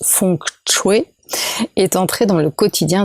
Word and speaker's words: feng shui: unis aujourd'hui en asie le feng-shui donc on prononce font que jouer est entré dans le